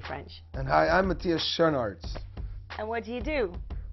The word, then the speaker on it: Schoenaerts: But what is like the Belgian pronunciation? Schoenaerts.